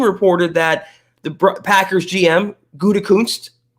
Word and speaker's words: Gutekunst: But also, contrarily, Peter King reported that the Packers GM, Gutekunst, say it right?